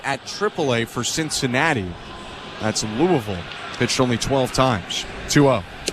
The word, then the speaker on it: Louisville: it correctly Louisville well if you're not from Louisville you usually say Louisville right that's what a ton of people say but that's not the correct way you're a local they look at you weird in Louisville if you say Louisville 3 0 called